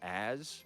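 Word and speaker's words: AS Colour: Every pair of socks I ever wear from now on is going to be AS Color. It's pronounced as.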